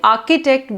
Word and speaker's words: architect: words Chango and Sharon CH sounds like C also there are sometimes that it sounds like like architect we say architect but we write a r CI schedule no it's